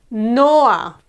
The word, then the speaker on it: Noah: A name? Noah. Again, two syllables. No, and then a, okay?